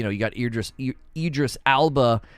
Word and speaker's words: Idris Elba: you got ear just Idris Alba or Elba in it Idris Elba I think it's how you say it as Solomon Reed so